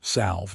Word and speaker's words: salve: "Salve," Nora said. "It is pronounced salve."